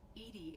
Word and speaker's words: EDI: Edie is the phonetic pronunciation of EDI. That is an acronym for Enhanced Defense Intelligence.